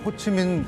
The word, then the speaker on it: 호찌민: 어제 모습이죠 네 그렇습니다이 호치민 묘가 있는 곳을 윤석열 대통령 부부가 가서 참배를 하는 모습입니다 네 자 호치민 우리 예전에는 호지명이란 한자 이름을 사용해서 그렇게 발음하곤 했습니다만 현지 발음 호치민으로 했는데 자 우리하고는 베트남 전쟁